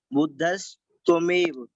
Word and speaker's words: बुद्धस्त्वमेव: जहाँ पे बुद्धस्त्व त्वमेव, इसमें तो इसमें बुद्धस प्लस त्वमेव दो शब्द बन जाएंगे, इस तरीके से उच्चारण करेंगे, बुद्धस त्वमेव, बुद्धस प्लस त्वमेव।